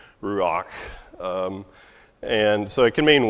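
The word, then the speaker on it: רוח: up in its wings the word wind and the word spirit is the same word in Hebrew it's rock so you'd spell it like Are you a we don't really have an English letter for that last letter it'd be like CH I guess you would say ruak and so it can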